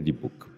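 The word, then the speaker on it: dybbuk: tipi di cose diverse scritte così come le pronunciate ibur e dibook con la k in fondo ibur è buono dibook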